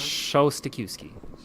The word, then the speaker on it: Szostakiwkyj: I'm like, Yeah, the trick's not to pronounce the J or the Z.